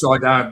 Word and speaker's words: solder: The word spelled solder but pronounced soda because English added the L back in the spelling in the 15th century to match the Latin roots solid.